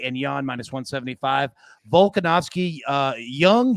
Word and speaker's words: Jung: Volkanovski, Young Jung. Am I pronouncing that right?